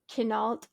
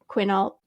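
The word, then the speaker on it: Quinault: about is the haunted kenal Lodge I think that's how you say it quinalt and the Ghost of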